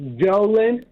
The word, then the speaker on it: Jolin: It's pronounced Jolin. But I Jolin.